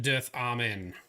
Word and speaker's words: Dirthamen: earth almond thank you the thumbnail said it's pronounced dearth amen excellent thank you i